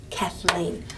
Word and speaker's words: Kathleen: agree with me that if you had to clap you'd clap on the name kathleen kathleen so it would be weak strong okay and then that